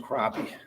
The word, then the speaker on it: crappie: I said, the word is pronounced crappie.